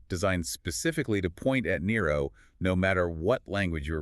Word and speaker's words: Nero: If you are a Latin-speaking Christian, you don't pronounce it Neron Caesar, you say Nero Caesar.